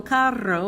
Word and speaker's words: carro: This is el carro, which is a car, and that's different than caro, which means expensive.